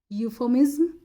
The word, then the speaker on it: euphemism: Option number A है यूफोमिज्म, यूफेमिज्म या यूफोमिज्म इसको बोलते हैं, स्पेलिंग है EUPHEMISM यूफेमिज्म।